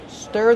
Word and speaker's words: stir: Stir the food with a whisk. How do we pronounce stir? Stir. Use the closed sound like burger.